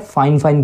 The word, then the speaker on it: Fifine: फाइव फाइन को pronounce कैसे करते हैं, फाइन फाइन बोलते हैं।